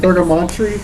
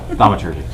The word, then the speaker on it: Thaumaturgy: No, I can't pronounce it in English. Whatever the hell it is. Can I look at it? Thurgamontry. What is this? Cleric. Thaumaturgy. Thaumaturgy. That's it. Thaumaturgy.